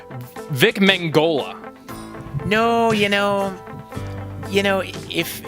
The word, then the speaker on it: Vic Mignogna: Because today alone, I've heard like 4 different pronunciations. I'm like, I hear him say he's Vic Mignogna.